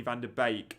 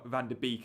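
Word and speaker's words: van de Beek: van der Beek and said Bake as Bake, which is absolutely correct. So again, the Dutch link perhaps got you there because so many say van der Beek, and it grinds on our Dutch friend in the Pentagon mini league with Toby and I, who watches the FPL show, and every time I said van der Beek, he'd WhatsApp me going, "Stop saying van der Beek."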